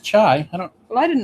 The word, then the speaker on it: Chi: It's spelled Chi. Well, it's pronounced Chai.